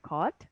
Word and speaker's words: record: So you see, so the stress is on the re, but here the stress is on the ka, right?